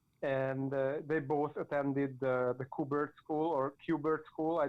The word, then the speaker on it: Kubert: And they both attended the Kubert School or Kubert School. I don't know how to pronounce that correctly. Yes, Kubert.